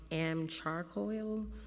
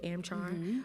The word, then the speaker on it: AmChar: $160,000 worth of firearms from AmCharcoil, or pronounced as charcoal, AmChar, wholesale during your tenure.